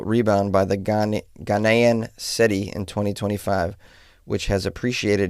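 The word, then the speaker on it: cedi: Anyways, this warning follows a remarkable rebound by the Ghana Ghanaian SETI in 2025, which has appreciated nearly 50% against the US dollar. Oh, the SETI is their currency.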